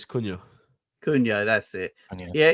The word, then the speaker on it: Cunha: It's Cunha. Cunha, that's it. Cunha. Yeah, he's played Very good pretty player. well. Him and Lamina have played pretty well, according to SofaScore. Obviously, Cunha is a player that I wouldn't mind signing